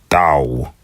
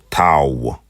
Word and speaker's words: tav: but not least, is the thao or the tow. So, some people may call it a tav. Some may call it a th or tav. Notice how in this dialect it has a sa sound.